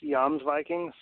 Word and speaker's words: Jomsviking: the way it's pronounced yam's Vikings the Jay has a y sound just like we have